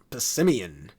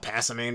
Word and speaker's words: Passimian: Alright, Passimian. I used to call it Passimane back in 2016, which obviously that's not how it's supposed to be pronounced. Like Simian, the type of monkey.